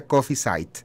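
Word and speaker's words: Kaffeezeit: Se escribe Café Seid, se pronuncia Coffee Seid.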